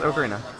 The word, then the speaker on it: ocarina: Yes, Ocarina. That's Okay. how the Anyway, moving on. that's how the word is pronounced in Italian, so, you know.